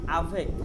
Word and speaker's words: avec: না, উ উ, উ avec lo অ্যাভে অ্যাভেক না, আভেক। আয়ের উচ্চারণ সবসময় আ। আ আভেক। সি এর উচ্চারণ বাদ যাবে না, আভে না না, এটা পুরোটাই পুরোটাই।